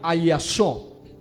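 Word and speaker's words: ἀλλάσσω: Hay una palabra que es la palabra que aparece, y busque en 1 Corintios 15, 51 al 53, y es la palabra ayasó. Se escribe con doble L y doble S, ayasó.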